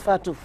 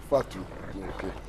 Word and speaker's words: Fatou: pronounced the name correctly it's easier actually it's just Fatu Fatu Madame welcome to the